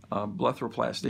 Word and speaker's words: blepharoplasty: We did the, if I pronounce it correctly, lower blepharoplasty.